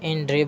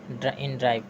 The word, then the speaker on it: InDrive: तो इन ड्रिव बोल रहा है, लेकिन इसका स्पेलिंग है INDRIVE, इन ड्राइव।